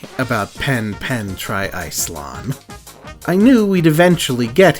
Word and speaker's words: TriIcelon: to get it out of the way that's tri-ice lawn the English announcers pronounce it as try isilon but either way an absolutely insane portmanteau to